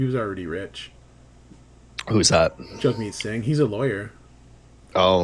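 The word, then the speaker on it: Jagmeet: I keep forgetting it's Jugme. Jug me. Yeah. It's it's it's it's hard because it is spelled with an A, but it's just naturally it just comes out as Yeah.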